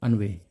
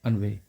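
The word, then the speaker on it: ennui: देखो दोस्तों, पहले इसका हम प्रोनाउंसिएशन देख लेते हैं क्योंकि इसका प्रोनाउंसिएशन काफ़ी अलग है। इसको हम पढ़ेंगे अनवे। क्या पढ़ेंगे? अनवे।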